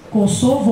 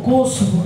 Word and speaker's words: Kosovo: Kosovo ou Kosovo, como você quiser pronunciar.